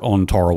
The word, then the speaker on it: Tarawa: You know, but but yeah, Joe wrote utmost savagery, which is a stunning work on Tarow or Tara if you prefer to pronounce it that way.